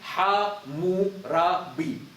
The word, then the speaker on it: Hammurabi: But those words, they read like Ha-mu-ra-bi.